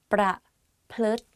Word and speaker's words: ประพฤติ: ประพฤติ pra and then plut like L sound within the word. So it's like pra, plut.